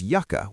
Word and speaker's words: yucca: Also, don't confuse yucka with yuka. Yuka, spelled with one C, is cassava, a starchy root vegetable used in cooking.